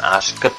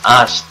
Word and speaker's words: asked: ed menjadi asked, ya, membacanya bukan asked ya, tapi asked, demikian.